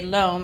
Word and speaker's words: loam: So I would say, help me say the word loam, and they would say loam out loud. And then I would just say that this is a mixture of sand, silt, and clay. And it rhymes with the word Rome.